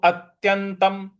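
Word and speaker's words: अत्यन्तम्: है आघात देना है और त्यंतम आधा जो न है उस पर भी हमको आघात देना है और उसके त के ऊपर जो अनुस्वार है उसका म में उच्चारण हमको करना है तो अत्यंतम अत्यंतम सुखमष्णुते सुख मष्णुते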